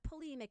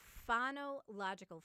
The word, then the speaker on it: phonological: for you peg um not polymake awareness but fano logical fano means sound you're playing with sounds